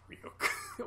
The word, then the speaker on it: Ryuk: he sees a warning, like, do not trust Ryuk, and he reads it out loud. He's like, don't trust Ryuk. Who's that? That's like my favorite. And sure enough, Ryuk shows up and he's like, it's pronounced Ryuk.